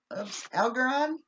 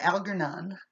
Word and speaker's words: Algernon: Flowers for Algernon, right? Algernon? Algernon. Algernon. So you don't pronounce the L. Algernon. No, you do. Oh, Algernon. Algernon. Or you don't pronounce the R.